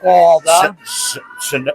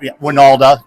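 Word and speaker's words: Wynalda: The one and only Eric Walda. Shout Winalda.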